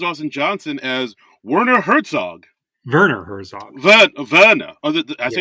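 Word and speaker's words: Werner Herzog: Johnson as wner Herzog Verner Herzog Vera as pronouncing we yeah we got to do that Germanic pronunciation Vera hell flawless flawless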